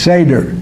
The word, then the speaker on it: seder: S SED seder I can't remember how to pronounce it s seder that's right thank you uh and with all